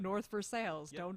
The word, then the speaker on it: North Versailles: oh yeah oh yeah it's spelled it's spelled like versailles but it's north for sales i mean try to